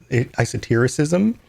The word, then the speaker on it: esotericism: Yeah, so I esotericism? Is that the right way to say that?